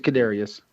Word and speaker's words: Kadarius: You had to say Tony twice, he but he had the hard one right. The Kadarius? Kadarius. It's Kadarius.